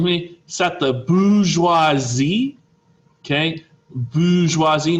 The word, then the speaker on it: bourgeoisie: sat the bourgeoisie okay bourgeoisie not burgeoisy okay bourgeoisie you're gonna see